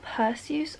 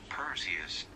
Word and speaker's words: Perseus: loving that already question is it pursues or perseus this seems like a question google can answer perseus perseus that is 100 not how i pronounced that when i was growing up perseus okay i'm